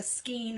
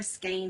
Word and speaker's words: skein: from Hobby Lobby it's called a skein or skin however you want to pronounce it and it's a tube